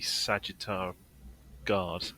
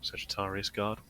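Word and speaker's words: Sagittarum Guard: jumping around a bit too much but the sagitar guard I'm getting that name wrong Sagittarius guard the um the shooty guys their gun which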